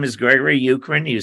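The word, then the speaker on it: Uchrin: when we introduced ourselves my name is Gregory ukrin you spell that u-c-h-r-i-n and uh you can find my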